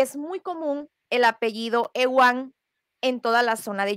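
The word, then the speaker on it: Euan: hacen mezclas y bueno, el apellido Ewan, que es como se pronuncia el mío, porque si hay una peculiaridad, originalmente el apellido totalmente de la influencia maya, viene escrito, se deletreó de esta manera, E-U-A-N, únicamente cuatro letras, y se pronuncia Ewan.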